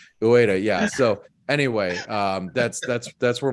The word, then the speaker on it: Ueda: UEFA. No, it's not UEFA. I'm never going to pronounce that correctly. Ueda.